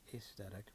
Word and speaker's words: aesthetic: And by the way, in case you're wondering, that's the first vowel sound in aesthetic should rhyme with Caesar, so it should really probably be aesthetic, but we all say aesthetic because we're kind of lame.